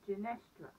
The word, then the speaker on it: Genestra: Now, if you say it really quickly, it sounds like Jennifer, but it in fact indeed is not. It's Genestra.